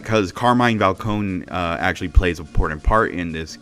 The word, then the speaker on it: Falcone: called them just Carmine Falcone and everything adding the e but but and then when I watched the Batman and everything I realized oh the E is silent so it's just Carmine valcone and everything that kind